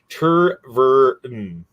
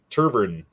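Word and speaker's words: Tervuren: Tervurn. Turvern. Teuren.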